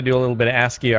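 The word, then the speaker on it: ASCII: a little bit of asky art under the diamond hoe aski artart is that really how it's pronounced yeah what I had no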